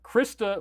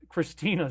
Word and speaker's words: Christa: about David and again Christa legens not Christina sorry that I was mispronouncing your name so then uh oh